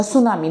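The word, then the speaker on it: tsunami: असेल सुनामी सुनामी आता सुनामी नावावरून आपल्याला असं वाटतं की आपण एस पासून स्टार्ट केला पाहिजे सुनामी हा शब्द पण ऍक्च्युअल मध्ये सुनामीच स्पेलिंग काय होतं तर टी पासून स्टार्ट होतं आणि मग त्याचं स्पेलिंग लिहिलं जातं यामध्ये टी आहे पण तो सायलेंट आहे तर अशा पद्धतीचे इंग्लिश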